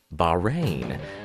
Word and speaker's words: Bahrain: and infectious virus oh wait what you couldn't pronounce it it's Bahrain the royal family this time unleashing mass destruction